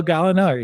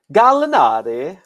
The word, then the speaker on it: Gallinari: in name only like he's danilo galiner he's good for 17 and eight and he always will be gallinari i wish someone would say it like him yeah i mean i